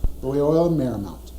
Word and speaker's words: Loyola Marymount: Am I pronouncing that right? Correct. Loyola Marymount.